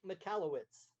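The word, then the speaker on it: Michalowicz: And I forget how to pronounce his name. Was it It's Mike McAllowitz.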